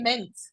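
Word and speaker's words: Minthe: we have men yes is it really just mint yes but you can pronounce it as minty but Min yes but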